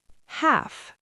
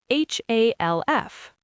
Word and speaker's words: half: Half h a l f. Half. Not half with a clear l.